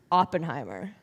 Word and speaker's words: Oppenheimer: know if you watch open Timer because I'm not doing that also that's not how you say it but I kind of want open armor it's Oppenheimer I'm not doing that